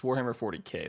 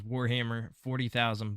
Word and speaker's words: Warhammer 40K: from Xbox just says Warhammer 40,000 bolt gun so I don't well that's how it's written but everyone says 40K yeah okay all right